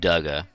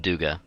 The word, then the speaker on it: Duga: Oh yeah, his name was I go back and forth between Duga and Dugga. But I'm pretty sure it's supposed to be pronounced Duga.